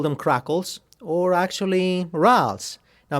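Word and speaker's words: rales: them crackles or actually rals now make sure you don't call them rails because ralph's is french and that's the pronunciation if you are from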